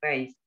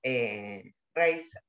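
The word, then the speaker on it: Risë: luego en la época de la adolescencia de Raíz, que no se pronuncia así, porque tiene diálisis, eh, pero Rice, el tema es que en Queens eh, estudió,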